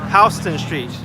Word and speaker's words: Houston Street: Houston I don't know so anyway jokes aside Houston Street is actually pronounced Houston Street because it was named after William Houston that's